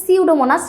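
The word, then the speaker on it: Pseudomonas: এটার উচ্চারণ হবে সিউডোমোনাস। সামনে দিয়ে হচ্ছে এটা একটা সাইলেন্ট পি থাকতেছে।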